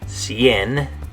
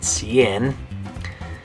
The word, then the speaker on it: cien: it's exactly 100, then you use this word, cien. Okay, good. So, by the way, how do you say it in Spanish? Good, cien.